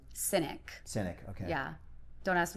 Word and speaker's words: Sinek: Cynic. Cynic, okay. Yeah. Don't ask me to spell it.